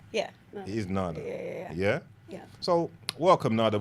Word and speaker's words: Nada: Am I pronouncing it right? Yeah. No. It is Nada.